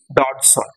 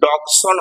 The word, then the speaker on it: Dodgson: উচ্চারণটা ভালো করে খেয়াল রাখবে, লুটুইজ, লুটুইজ এখানে ডিটা সাইলেন্ট আর ডডসনের জিটা সাইলেন্ট, জিটা উচ্চারণ করলে কিন্তু ডগসন হয়ে যাবে, তাই ডগসন নয়, উচ্চারণটা ডডসন, DOD থেকে উচ্চারণ হবে, জিটা সাইলেন্ট হয়ে যাবে।